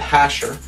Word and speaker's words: Jasher: I said, what's the book of Jasher? Or others pronounce it Hasher.